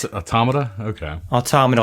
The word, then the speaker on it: Automata: Automata, like automaton.